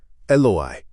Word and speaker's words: Eloi: But Jesus cries out in the regional Aramaic pronunciation, Eli. Eloi. The bystanders, already caught in a chaotic, dark environment, completely misunderstand the dialect.